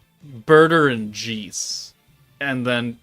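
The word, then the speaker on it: Jeice: Did you know that the correct pronunciation of the character in Dragon Ball Z from the Ginyu Force, Jace, is technically Jeese?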